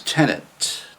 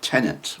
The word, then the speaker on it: tenet: a basic belief um it's easy to mispronounce uh or get confused with tenant which is a person that um rents in a building uh tenant tenet you see the difference tenet tenant that's a